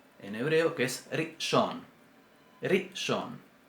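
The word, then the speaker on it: ראשון: Rishon. Si decimos rishon, está mal. Según la pronunciación semítica, no está bien.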